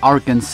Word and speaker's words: Arkansas: on arrive enfin en arkensas prononcer arkans en anglais où Bill Clinton et